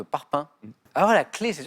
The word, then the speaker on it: parpaing: Et G, cette consonne qui n'est pas prononcée, à la fin, par exemple, de parpaing.